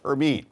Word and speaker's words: Hermine: Everybody's having a really hard time pronouncing this because it doesn't spell the way it sounds, but it's pronounced Hermine. So Hermine right now has maximum sustained winds of 60